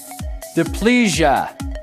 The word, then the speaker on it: diplegia: I don't even know if I can pronounce this. Diplegia.